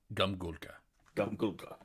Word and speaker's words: Gumghuulka: speak with uh uh golfka not super familiar with his pronunciation oh me neither um but grum grumholka i'm never going to get that from reading it it's um gum gulca i read a lot